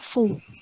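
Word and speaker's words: faux: Contohnya FAOX itu dibaca fo. Fo. X-nya nggak usah dibaca.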